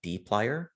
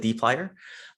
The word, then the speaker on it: dplyr: the tidy verse there is a package called d plier or that is how you pronounce it d plier so just like how we loaded up the